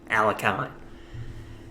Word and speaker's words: Alekhine: In this game, we're going to be taking a look at a masterclass from Alexander Alekhine, or as most Americans say, Alekhine.